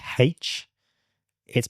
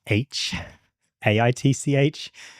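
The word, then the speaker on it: HbA1c: but it just annoys me when people say h it's meant to be pronounced H AI t c not hi H AI T C just just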